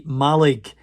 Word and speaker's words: Mallaig: Yeah, see, Mallaig is how the locals pronounce it.